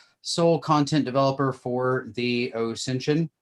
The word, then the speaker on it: OSINTION: Beyond that, I am the founder, principal instructor, and sole content developer for the OSINTION, spelled the OSINT ion, pronounced like Ascension.